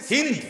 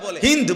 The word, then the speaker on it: হিন্দ: আবু সুফিয়ানের স্ত্রী হিন্দ বিনতে উতবা, যারে বাংলায় উচ্চারণে হিন্দা বলে। হিন্দ মূলত তার নাম, আকারটা নাই আর কি, হিন্দ।